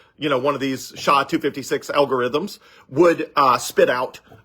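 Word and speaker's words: SHA-256: is the same one right now is called sha 256 s h a256 and it's uh I forget it's a complicated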